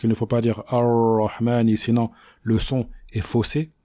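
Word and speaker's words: الرحمن: Donc voyons maintenant la bonne prononciation de ce verset, ainsi que des erreurs récurrentes à éviter. Ar-Rahman Ar-Rahim.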